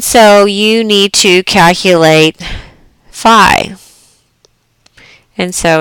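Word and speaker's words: phi: I'm sorry fi yeah it's pronounced fi it's um Latin symbol this is page 305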